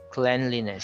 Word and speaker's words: cleanliness: h stare and cleanliness but if you say clean that's a hard e a long e sound but if the word it's the noun it's Clan cleanliness so it's quite confusing English